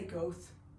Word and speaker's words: Goethe: Goethe is a German philosopher and writer. He, people usually say Goethe, okay, but it's Goethe.